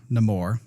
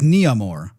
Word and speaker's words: Namor: There's a scene between Shuri and Namor. Mm-hmm. He was pronouncing his name differently though. Was he? Yeah, he's like Namor, but everybody called him Namor. And in IMDb, it says like it's Namore, I think.